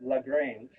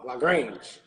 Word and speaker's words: LaGrange: Well, Bostonians pronounce it LaGrange. Oh, LaGrange. LaGrange. It's not French?